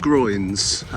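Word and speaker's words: groyne: on the beach before they're called groins spelled differently they're not the same not spelled the same as the uh part of your body that's at the top of your legs uh these are spelled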